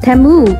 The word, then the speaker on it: Temu: so ito sa temo ko din binili sa temu ganun nila ipronounce temu So yung mga pantulog ko dito